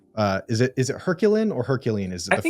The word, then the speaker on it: Herculine: Uh is it is it Herculine or Hercuan? Is it the French? Hercuan, but I you know if you want to go French with it, you should.